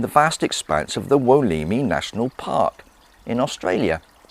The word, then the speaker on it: Wollemi: my willow me pine i did in fact pronounce it wrong a moment ago if i lift this leaflet up for you you should be able to see the walimi pine on there that's the name of it and as it says